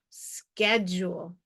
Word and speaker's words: schedule: here's our first syllable the S CH H is going to spell this blend we have an e only vowel in this syllable with a consonant after it it's probably short e SK SK the last syllable is a u with a silent E so that U is long u skule schu schedule schedule all right here are